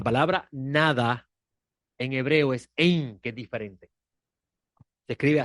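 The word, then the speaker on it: אין: Nada, Ein, nada.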